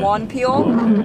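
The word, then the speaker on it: Wonpil: W-O-N-P-I-L, so it's like one pier. Yeah, Peter. Me American pronounce it Juan Peel, but I've heard Koreans, pronounce it one Peter.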